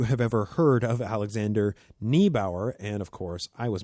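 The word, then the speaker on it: Neibaur: also concluded with saying, in German, the diphthong EI, an E followed by an I, is pronounced like an English long I, as in island.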